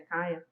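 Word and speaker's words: Kya: ele também vivia no mesmo ambiente violento, até mais que a própria Kia ou Kaia, como vocês preferirem, tá? A pronúncia em inglês é Kaia.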